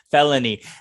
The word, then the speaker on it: felony: a felony very good good felony and with that l in the middle it gets tricky there but i can't imagine